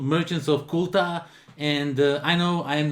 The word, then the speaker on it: Qultah: to show you it is called merchants of kuta and I know I am notoriously bad at pronouncing the names of some games correctly but